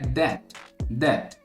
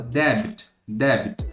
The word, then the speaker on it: debt: E a segunda palavra, ela tá bastante no nosso dia a dia aqui, que é debt. Provavelmente você fala debit, alguma coisa nesse sentido, colocando o B.